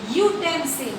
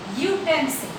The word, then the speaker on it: utensil: A utensil. Now U is your vowel but pronounced as consonant ya, means utensil.